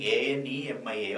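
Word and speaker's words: anaemia: So most of the children are writing A-N-E-M-I-A. Okay. So whenever you are writing the spelling of anemia, you must be very careful. Here there is an A is there, but its pronunciation is silent only.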